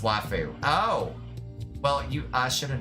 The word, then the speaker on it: waifu: Waifu is pronounced waifu.